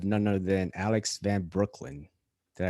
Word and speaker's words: Breukelen: I have none other than Alex Van Breukelen. Did I pronounce that right, Alex? Yep, you got it right. Breukelen, like the bridge in the borough, man.